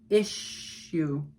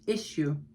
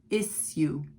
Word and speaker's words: issue: I will say in America, it's pronounced with an SH, issue. First syllable is stressed, issue. And in British, sometimes in British English, it's issue, issue, no SH.